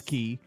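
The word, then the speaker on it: Cay: right they Cast Away key right and it's cast away because it's looks like it's K so they're like you know that for decades we've had to learn that right it's not it's key which is really hard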